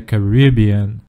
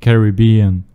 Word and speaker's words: Caribbean: this region that we now know as the Caribbean. Or Caribbean.